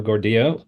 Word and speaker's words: Gordillo: all right welcome guys we're here with Gordo which after 10 years years or so I can finally pronounce correctly uh you can go back and